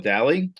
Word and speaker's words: Dalley: Did Bob say your name your last name wrong or have I been sailing daily incorrectly for years? It's it's actually Deli. Yes, it's English, not Irish.